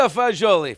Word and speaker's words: fagioli: do you say that it's very good pasta fagioli fantastic and what are you doing for escapism